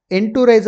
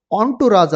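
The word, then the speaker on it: entourage: ಇಲ್ಲಿ ಎಂಟುರೇಜ್ ಅಂತ ಇದೆಯಲ್ಲ, ಅದನ್ನು ಏನಂತ ಉಚ್ಚಾರ ಮಾಡ್ತೀವಿ ನಾವು? ಆಂಟುರಾಜ್ ಅಂತ ಉಚ್ಚಾರ ಮಾಡ್ತೀವಿ.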